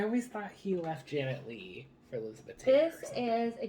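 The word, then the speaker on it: Leigh: married six times his first wife was janet lee spelled l-e-i-g-h but jamie lee doesn't spell it well no because it's a middle name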